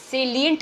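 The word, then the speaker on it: salient: पर आप ध्यान देना ये साइलेंट नहीं लिखा सेलियंट लिखा है सेलेंट मतलब जो चीज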